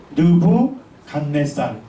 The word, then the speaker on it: 느부갓네살: 느부갓네살. 근데 요 느부갓네살을 세계사에서는 뭐라 부를까요? 네부카드네자르 이렇게 불러요. 쉽게 얘기하면 똑같은 단어인데 발음하는 음력 체계가 다른 거예요.